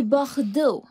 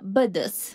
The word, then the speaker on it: Bordeaux: Et Bordeaux, pas Bodos.